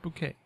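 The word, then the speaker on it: bokeh: with that language and people try to say it like in photography videos they'll say like bao or like they'll try to say it phonetically which is something I would do and I've done that many times with French words. It's pronounced bouquet.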